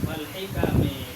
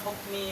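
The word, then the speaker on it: والحكم: Wal hikami. Betul. Hikam ini makanya makanya dikata ini kamu harakatin wal hikam biar nanti enggak baca hukmi pas pulang ke rumah.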